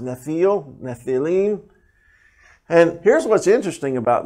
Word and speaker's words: Nephilim: Or plural, Nephilim is how it's pronounced. Nephil, Nephilim.